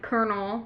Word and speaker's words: colonel: And kernel because it's not spelled like kernel of popcorn.